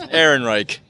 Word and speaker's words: Ehrenreich: I can see this Alden how do you pronounce his last Ehrenreich Aaron right Alden Ehrenreich yeah like I'm not sure if I can